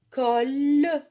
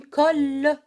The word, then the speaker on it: colle: Une colle. Une colle. غراء. باللغة العربية هو غراء. الكول. غراء باللغة العربية نقول غراء. لكن elle se prononce une colle. Je répète. Un livre. كتاب. Une gomme. ممحات. Une colle.